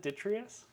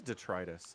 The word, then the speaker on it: detritus: humans you pronounce vocabulary you pronounce it detrius I did detrus is it detritus yeah as far as I'm aware it's the trus okay I mean get Google to pronounce it for you yeah you're right it is detritus have I never heard